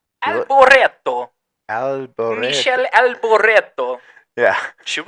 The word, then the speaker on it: Alboreto: I think it's pronounced Michele Alberto. Alboreto.